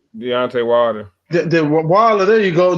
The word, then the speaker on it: Deontay Wilder: He fought fuck Devontae. Not am I saying it right? Deontay Wilder.